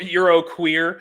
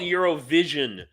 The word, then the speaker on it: Eurovision: spread them in your or Euroqueer, Cheryl. No, that's called Eurovision, Cheryl. It's called Eurovision. You pronounced it wrong.